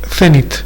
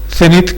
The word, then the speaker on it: cenit: Cenit, que creo que la Real Academia lo admite con C y con Z, y además acentuándolo en la última sílaba, bueno, en la penúltima. Yo por costumbre lo voy a llamar cenit, aunque también creo que se admite cenit.